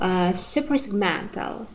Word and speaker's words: suprasegmental: So we have 5 syllables, and here the primary one is first one, man. Suprasegmental. Suprasegmental. So it is the strongest syllable, therefore it is primary.